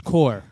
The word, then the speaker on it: corps: Corpse is core.